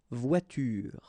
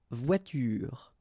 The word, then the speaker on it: voiture: But then you don't insist on it, so clearly you don't pronounce it une voiture. Same thing here. The last thing that you will hear is this r, voiture, voiture.